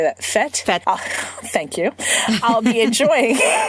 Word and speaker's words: fête: Fête.